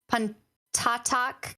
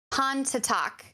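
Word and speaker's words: Pontotoc: of chickasaw yellow yellow busha again apologize for mispronunciation calhoun county pantatalk county and monroe county i'm waiting for cory's great with the yalubusha county han to talk county thank you corey for those those helpful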